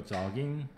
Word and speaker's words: jogging: My free time like to go jogging. 따라해. Jogging. 자. 따라해. Jogging. 자. 이제 O 하고 아 사이 발음을 해야 돼요. O 하고 아 사이 발음. 조깅 하면 안 돼.